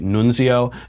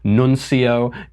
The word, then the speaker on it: nuncio: what the word nuncio means some people are pronouncing at Nunzio Nunzio is the name of my Italian uncle who lives in the Bronx nun Co is the the representative to the United States